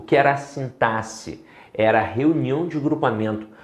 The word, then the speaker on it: sintaxe: E a modalidade que estuda isso daqui é a sintaxe. Sintaxe, tá? Com essa pronúncia mesma, tá? Com som de 2 S's. Não é sintaxe, como muita gente fala aí, não.